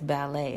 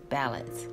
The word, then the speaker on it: ballads: I don't think you pronounce it as ballet. I think you pronounce it as ballads, which is probably supposed to be their way of pronouncing ballad, B-A-L-L-A-D.